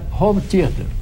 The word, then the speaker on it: home theater: Por favor, ensine o JK a pronunciar home theater. Home theater, tá? Home theater. Com o O fechado. Home theater.